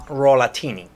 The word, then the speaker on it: Rollatini: thank you for having me how do you pronounce the name of your restaurant uh rollatini rollatinini yeah okay okay why why would you